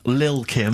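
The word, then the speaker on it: Lil' Kim: Now, Steve, I see there, it's a track by Little Kim, but how are you pronouncing it? I'm pronouncing that correctly, Lil Kim. Oh, no T's involved.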